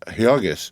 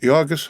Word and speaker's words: Jurgis: had just married and married to jurgis pronounced heogis of all men to yogis rudkus he with the